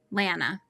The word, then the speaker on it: Lana: Anna, it's Anna with an L. Lana.